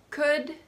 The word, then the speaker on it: could: Half, salmon, would, could, and should.